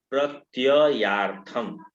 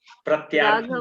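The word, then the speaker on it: प्रत्ययार्थम्: प्रत्ययार्थम, दो य है और दोनों य का शुद्ध उच्चारण कीजिए। राघव प्रत्ययार्थम। राघव प्रत्ययार्थम तु दुंदुभे राघव प्रत्ययार्थम तु दुंदुभे कायमुत्तमम। राघव प्रत्यार्थम प्रत्यार्थम बोल दे रही हैं आप, प्रत्यार्थम बोल दे रही हैं।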